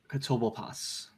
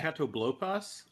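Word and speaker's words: Catoblepas: Katobopas. The what? I might be mispronouncing it. This is a Magic the Gathering card. You're good. I think it's okay. Katoblopas.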